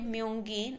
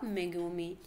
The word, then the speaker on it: Megumi: She said Myungin instead of Megumi. She pronunciated the name wrong. She pronunciated anyone to the Korean name, but she has to pronunciate the Japanese name, but she has done the mistake.